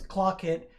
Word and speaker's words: Clock It: The piece is called Clock It, and Clock It is for string trio, and part of the title is Clock It, sort of rhymes with Hawk It, which a Hawk It